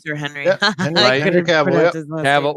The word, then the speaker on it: Cavill: Yeah, Henry Cavill.